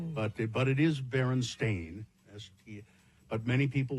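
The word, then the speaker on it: Berenstain: For instance, the Baron Stain Bears book being spelled and pronounced Stein or not Stain as the publishers claim, but but it is Baron Stain as he but many people remember it as Stein or Stein.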